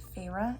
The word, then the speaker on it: Feyre: I have figured out the main character's name is pronounced Feyre and not whatever I was saying earlier.